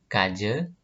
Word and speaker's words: kaja: Kemudian huruf A di belakang sebuah kata dibacanya E. Nah, sebagai contoh, di sini ada kata kaje. Nah, tulisannya kaja, tapi A yang di belakang ini dibacanya E, jadi kaje.